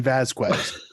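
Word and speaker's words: Vásquez: That I didn't even know you actually pronounced the qua in Vasquez.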